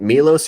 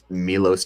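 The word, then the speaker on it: Miloš: It was Milos and people would say Milo's. I'm like, no, it's not Milo's.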